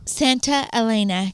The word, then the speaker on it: Santa Elena: Santa Elena Canyon.